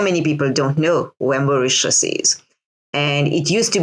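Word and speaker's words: Mauritius: time of of how your your Homeland is pronounced yes it is called macius so it is named after a Dutch Prince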